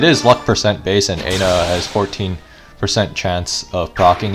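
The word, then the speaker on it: Ena: Yeah, so a little bit about the boss Aina, or Enna, depending on how you pronounce it.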